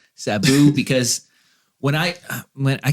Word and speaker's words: Sabu: to taz taz and cebu there you go say it right sabu because when i went